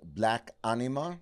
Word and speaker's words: Black Anima: So let us talk about the new record, which is going to be called Black Anima. Yes, I believe I pronounced perfect.